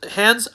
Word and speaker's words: Hans: It is music by Jan Hans not Jans but music by Hans Zimmer Perroll Williams Nicholas Brentel and